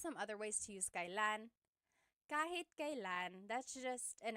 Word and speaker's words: kailan: And here are just some other ways to use kailan.